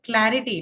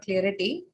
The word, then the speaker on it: clarity: one uh doctor uh clarity it is okay not clearity uh clarity is even